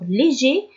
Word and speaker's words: léger: Alors léger s'écrit avec un R à la fin, mais on le prononce pas parce que au féminin on dit légère.